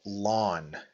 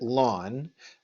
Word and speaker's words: ln: name and it's called lon okay so it's Ln and we pronounce it lon y equals lon of